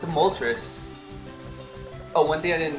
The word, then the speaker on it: Moltres: Like, pardon my pronunciation, but Articuno, like uno, 1, Zapdos, like 2, dos, and Moltres, like 3, Moltres. Anyway, just a little side